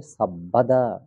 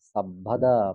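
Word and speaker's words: সব্বদা: মনে রাখবেন, যুক্ত বর্ণ সংযুক্ত বর্ণ বয়ে ব, বয়ে ব। যেমন আমরা বলছি সাব্বে সত্তা, বয়ে ব, এটা উচ্চারণ অবিকল থেকে যাবে। এটা এখানে ব আছে বলে এটা ওয়া হবে না।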